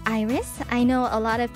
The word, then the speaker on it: IRyS: not it is not irise it is not it is not ours it is just iris yes like the flower simple simple stuff and